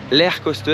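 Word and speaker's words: Lech Coaster: russe en question s'appelle l'air coaster alors ça c'est la prononciation polonaise on va dire approximative en français ça s'appelle lèche coaster le c.h poster bon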